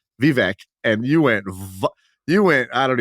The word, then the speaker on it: Vivek: There's 2 ways to say his name. And one is the right one is the wrong one. And you just came with a third, Vivek. Holy! It's wow. Vivek, right? Vivek is the way you say it.